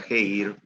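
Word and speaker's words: χείρ: griegas como está viva una de ellas kate que se pronuncia que ir que significa mano y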